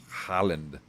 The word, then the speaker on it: Haaland: H-A-A-L-A-N-D.